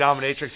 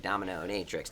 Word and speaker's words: dominatrix: Dominatrix, you got to add a He syllable.